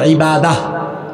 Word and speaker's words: ইবাদাহ: এটাকে আমরা আরবিতে এভাবে উচ্চারণ করি ইবাদাহ।